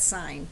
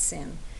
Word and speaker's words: sine: first three letters okay so si but you say that sign not sin right and it was that